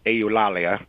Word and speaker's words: Eulalia: I mean, if you pronounce it in Spanish, Eulalia. Eulalia. They pronounce the syllable, you know, they pronounce the syllables a little different.